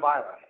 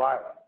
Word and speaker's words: Islay: The most famous island is the island of Islay. So it's spelled I-S-L-A-Y. It's not Islay. Island.